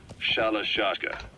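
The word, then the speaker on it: Shalashaska: By the time I got to hearing about it, pronunciation had wound up as Shalashashka.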